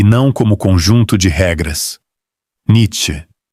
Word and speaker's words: Nietzsche: Nietzsche, ou Nietzsche, que no seu sotaque provavelmente já sai certo. Uma africada no meio, vogal neutra no fim, nada de garganta.